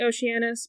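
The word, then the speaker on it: Okeanos: have 60 Daughters of well it's spelled with a K but it's usually Oceanus but I guess this is okus all years of age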